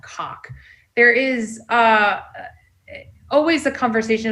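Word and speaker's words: Coq: But for right now, the name of this language and the correct pronunciation of it is COC.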